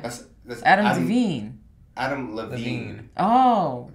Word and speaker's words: Adam DeVine: and it has uh what is it um adam define is that how you pronounce this that's a singer from maroon 5. that's adam devine adam levine oh right sorry adam is that